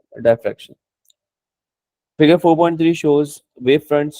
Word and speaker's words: diffraction: डाई होती है डी होती या यूजुअली डायफ्रैक्शन कहते हैं, डिफ्रैक्शन भी कुछ लोग कह रहे होते हैं, लेकिन the better pronunciation is diffraction.